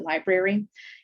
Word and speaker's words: LBRY: One kind of cool model that I know about, it's a YouTube alternative called LBRY, but they pronounce it library.